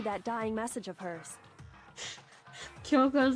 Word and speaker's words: Kyoko: There's not a K-I there. It's just Kyoko.